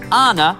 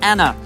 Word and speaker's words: Anna: farris was a delight she has two ends in her name yet pronounces it anna not anna i found trying to